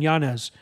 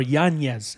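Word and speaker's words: Yanez: between Jonathan Martinez and Adrien janz or yanes as he wants to be pronounced now uh starting off on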